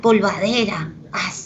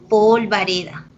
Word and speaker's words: polvareda: ¿Qué tal polvadera? Estás haciendo, oye. Polvadera no, ¿ok? Se debe decir polvareda.